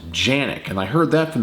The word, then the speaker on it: Canik: just going to say canic because it does start with a c but I've heard people say it's pronounced with a J just U something about